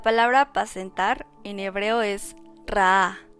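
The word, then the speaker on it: רעה: La palabra apacentar en hebreo es ra'a, con acento en la segunda A, que significa alimento, alimentar o cuidar.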